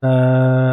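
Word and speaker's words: ت: জিহ্বার আগা সামনের উপরে দুই দাঁতের গোড়ার সঙ্গে লাগিয়ে তা। তুমি পড়ো, তা।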